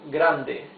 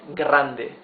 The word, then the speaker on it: grande: r is different it's Grande you see Grande the the r is smoother it's not grande it's Grande you need to practice